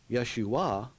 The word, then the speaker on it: Yeshua: Yeshua is. But it's not pronounced Yeshua as a name, it's pronounced Yeshua as a name. As a verb, it would be pronounced Yeshua, Which is salvation.